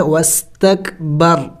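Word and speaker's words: واستكبر: वक़फ़ करेंगे तो वक़फ़ में वस्तकबर, रा को साइलेंट कर देंगे, साकिन करेंगे, वस्तकबर।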